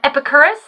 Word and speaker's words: Epicurus: Quick quote of the day from Epicurus. I believe that's how you pronounce his name.